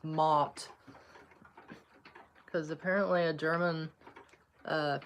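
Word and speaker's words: Mouthe: Apparently that they say it's Mot. Honestly kind of makes sense cuz it's m o u t h e, Mot.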